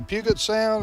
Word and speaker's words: Puget Sound: Is it the Puget Sound? Is that how you pronounce it? Puget Sound, yep.